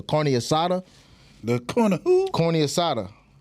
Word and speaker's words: carne asada: The I'm saying it wrong. The carne asada.